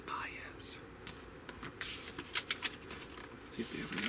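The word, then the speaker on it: Baez: Um I always pronounced his last name incorrectly when I was a child. It's spelled B A E Z. I always thought it was B or B, but it is bias.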